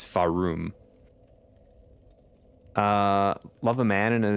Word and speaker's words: Farum: Yeah, it's not Therum. It's Farum.